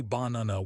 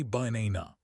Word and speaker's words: banana: You don't say baana with three clear a's. You say banana. The first and last a are schwas. They are dead vowels. If you pronounce them clearly, baana, you sound foreign. If you kill them ba, you sound native.